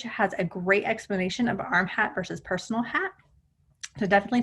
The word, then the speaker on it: RmHAT: how to troubleshoot it arm hat or rm hat pronounced arm hat is remote hearing assistive